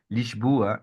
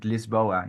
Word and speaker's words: Lisboa: So they see Lisboa and they would just also assume you would pronounce it Lisboa, as because we're more used to it's closer to what we're used to.